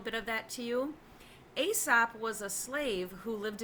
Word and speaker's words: Aesop: of you have probably heard of a sap sometimes they pronounce it ESOP and I thought there